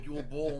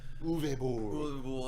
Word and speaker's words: Uwe Boll: game, and obviously that Christian Slater movie, horrible Yule Bowl movie. Uwe Boll. He doesn't even deserve to have his name pronounced correctly.